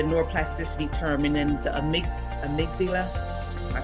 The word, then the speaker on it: amygdala: And then it gives us the neuroplasticity term, and then the amygdala.